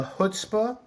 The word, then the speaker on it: chutzpah: and by the way I've seen it pronounce this chutzpah kutzpa so there's uh I pronounce it which is a bit more guttural the hutzpah is easier for Americans because we don't really have a sound the in in English and I think of hutzpah